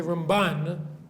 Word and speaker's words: Ramban: When we say Ramban, we always put the stress on the second syllable, right?